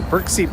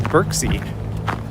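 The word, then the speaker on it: Berczy: I know that's not the correct pronunciation, but it's one of those things where I think it's actually like, it's a Polish word if I'm not mistaken, or name. But absolutely everyone says Birksea. So I think, like it or not, that's kind of become how you pronounce it.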